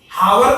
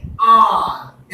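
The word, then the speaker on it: hour: हावर तो नहीं बोलते ना, हम क्या बोलते हैं आर, यानी एच यहां पर भी साइलेंट है, और अगर एच साइलेंट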